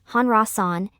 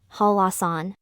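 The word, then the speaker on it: 한라산: the second syllable therefore instead of reading it as hanran it should be read as halasan as mentioned earlier when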